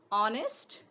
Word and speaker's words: honest: Before words beginning with a silent H. Honest, remember? Then the is used to refer to a particular person or thing, a definite one, right?